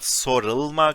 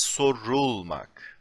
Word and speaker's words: sorulmak: Like, it's not sorılmak, it's not soralmak, because they are not easy to pronounce. It is sorulmak.